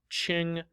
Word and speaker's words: Qing: as you see here q-i-n-g it's pronounced ching dynasty but the fact of